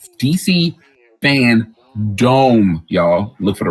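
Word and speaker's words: FanDome: we already know dc fandom which is i believe august 22nd coming up dc fan dome i said it wrong first time dc fan dome y'all look for the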